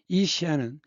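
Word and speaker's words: 西安: 지금 무리 발음으로는 서안이라고 있죠. 중국발음은 시안인데이 시안은 실크로드의 동쪽 끝입니다.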